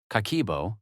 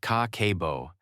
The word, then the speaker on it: Kakeibo: Kakeibo, pronounced ka-ke-bo, is a Japanese household budget practice that dates to 1904, created by Japan's first female journalist, Hani Motoko.